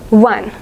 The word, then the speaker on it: one: This word is pronounced as one, wa. So instead of considering the first letter O, we should go with the pronunciation w, which is a consonant sound.